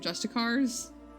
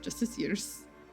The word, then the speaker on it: Justiciars: Every time I see the word, I think of Justicars. Every single time. But it's pronounced Justiciars. Justiciars, or something like that.